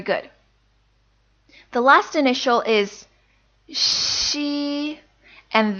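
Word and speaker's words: xi: The last initial is she, and this sounds nothing like the way X sounds in English, so make sure you don't get confused. This actually kind of sounds like the word she in English, except again, most of the sound is coming from the front of your mouth.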